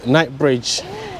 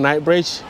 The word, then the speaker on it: Knightsbridge: continue next stop is night Bridge night's Bridge yeah nights like K or nights like n like night with K yeah okay I don't know why it's called night Bridge because of the night